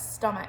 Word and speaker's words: stomach: c h signed um it sounds like stomach when you say it like it looks but it's stomach so we need to